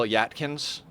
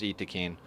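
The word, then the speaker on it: Yttakin: it's Yayo, and like Francis calls the Wookiee people Yatkins, because of the way it's spelled, but I'm pretty sure their official way of pronouncing it is Itakeen.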